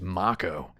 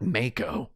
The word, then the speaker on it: Mako: my own Final Fantasy 7 YouTube videos it's pronounced ma Co not Mako so how do we get to the bridge